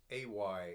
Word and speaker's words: ay: anxious they'll come in ay in Scots does not mean yes it's short for always and it should not be pronounced I but a so I found one